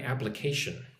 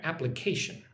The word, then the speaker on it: application: Thank you for considering my application. Considering considering second syllable gets the emphasis sid. Thank you for considering my application. Application kind of on the first and third syllable.